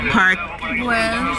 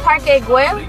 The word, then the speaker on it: Parque Güell: It's Parque Güell. Parque, yes. Parque. Parque Güell. Parque Güell. Güell. G is silent.